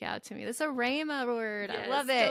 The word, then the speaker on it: Rhema: Like Rhema, even though there's an E, you say it like an A.